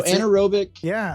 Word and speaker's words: anaerobic: So anaerobic.